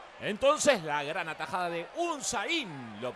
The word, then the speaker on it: Unsain: El apellido se pronuncia Unzain, con acento en la I, un acento imaginario.